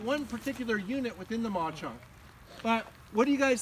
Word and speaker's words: Mauch Chunk: This one's called the Maw Chunk, and it's spelled like Mauch Chunk.